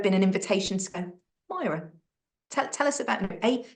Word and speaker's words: Myira: an invitation to go Myra tell tell us about a how do you pronounce your name because I know the spelling of my name can confuse people the i in the middle is silent um but what's the